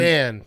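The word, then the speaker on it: Achane: I've heard Achan. That's right. I've heard Achain, too. Achain.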